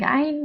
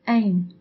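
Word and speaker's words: عين: I have noticed that it is mostly pronounced as alif by foreigners, so instead of saying ayn, they say ayn.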